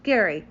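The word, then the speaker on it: Gerry: Splash magazine worldwide and all things Cruise it's Gary g e r r y it's pronounced Gary so thank you for all that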